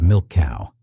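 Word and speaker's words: Milchkuh: Type 15th Milchku, pronounced milk cow, the type was a supply submarine built to refuel, rearm, and resupply combat yubot far from German ports.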